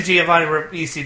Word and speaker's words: Giovanni Ribisi: I'm very impressed that you pronounced his name correctly, because I wouldn't have. I really don't have an opinion on Giovanni Ribisi.